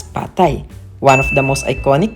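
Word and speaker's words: pad thai: mga foods nila especially the pad tie or correctly pronounced as patay one of the most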